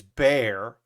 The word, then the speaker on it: Bexar: Okay, so Bexar is Bear, and Manor is Maynor.